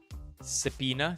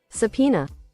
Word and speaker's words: subpoena: mistaken, they can Sabina How do you even pronounce it properly? Subena. Subpina. Subpina. Subpina. Subpina. Subpina. Subpoena.